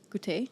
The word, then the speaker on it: Goûter: We are here today with Bianca from Goûter. Goûter?